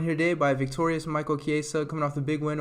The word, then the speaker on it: Chiesa: You could say Chiesa. Chiesa's fine. Chiesa. It doesn't matter. Chiesa. So we're really going for the subtle, the way you pronounce it.